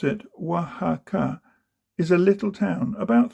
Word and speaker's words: Oaxaca: Oaxaca, you pronounce it Oaxaca, is a little town, about 30,000, in a wide valley with mountains round, lonely and a bit lost.